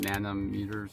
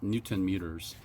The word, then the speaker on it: newton meters: So, it's 25 I can't read nanom meters, not pounds.